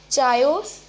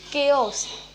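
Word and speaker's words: chaos: Okay, so the fifth word is चायोस. नो, इट्स केओस.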